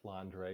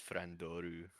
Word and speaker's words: Flandre: i pronounced flander or flandre you're flander fight i don't know i just flander i say flander because the uh japanese is frandoru so are we writing